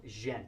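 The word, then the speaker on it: djent: guitars are into a style of music called gent it's spelled d-j-e-n-t yes sugar yes but my thing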